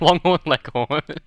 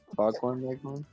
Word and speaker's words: Foghorn Leghorn: It's like Longhorn Leghorn. Fucking, I said his name wrong, but it's like It was like, that was very just nice learn to back tune him then. out. Foghorn Leghorn.